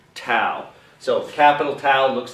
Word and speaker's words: tau: Some people pronounce it taw. I grew up calling it tau, so that's how I'll pronounce it, tau.